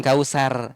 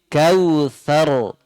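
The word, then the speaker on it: كوثر: Bukan kausar, tapi itu tipis kalau kausar. Tapi kautsar, kautsar, dia tebal bunyinya.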